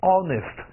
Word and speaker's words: honest: 我读一下，一起来 honest，再来一遍。Honest，什么叫 honest？